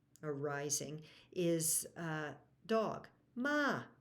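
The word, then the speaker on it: ม้า: Rising is uh dog ma High tone is a horse and there are many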